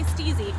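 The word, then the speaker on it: Stiiizy: Do you say stizzy or do you say steezy? Although I don't know how you're gonna let us know. The enunciation in parentheses. Rhymes with Easy.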